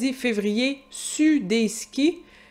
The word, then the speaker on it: sur: Fait que Vincent dit « Février, sud des skis ». Il prononce pas le R.